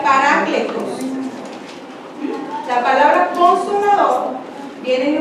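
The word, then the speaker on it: παράκλητος: de un vocablo griego que que que se pronuncia pará cletos la palabra consolador viene de un vocablo griego que significa pará cletos que literalmente quiere decir alguien llamado al lado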